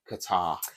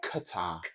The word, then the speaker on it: Qatar: What do you think about a World Cup being somewhere like Qatar?